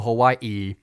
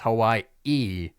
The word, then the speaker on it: Hawaii: Airlines Diamond Head classic in Maui in Honolulu Hawaii who which I'm starting to learn the pronunciation for it's not Hawaii it's Hawai e anyway that's not important but they would start